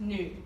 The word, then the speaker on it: 女: So this is the Chinese word for female, and it's pronounced nu.